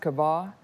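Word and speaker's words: קָוָה: word weight in the Hebrew the word is pronounced kabah and the literal translation of the word weight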